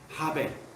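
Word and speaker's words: הֶבֶל: 맞아 죽는 아벨, 이 아벨의 역사가 우리의 역사예요. 아벨 이름을 뭐라고 합니까? 지난번에 말씀드렸더니 아벨이라고 하는 이분은 히브리어로 발음은 하벨입니다. 하벨.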